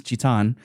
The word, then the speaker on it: Zidane: not changing I know I know in Japanese it's chitan and I I know it's probably pronounced zidan but uh I'm saying zidane I'm happy you did